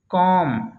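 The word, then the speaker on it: comb: rule number एक है एम के बाद यदि बी आता है तो बी साइलेंट होता है जैसे कॉम बम थम बम बी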